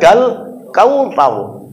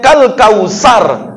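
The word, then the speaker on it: الكوثر: Misalkan surah Al-Kautsar, inna a'tayna kal kautsar. Kalau dibacanya kal kausar, berarti salah huruf itu.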